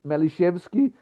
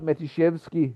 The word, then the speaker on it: Maliszewski: His surname is Maliszewski with an L, not Matiszewski with a T, which some sources misspell it.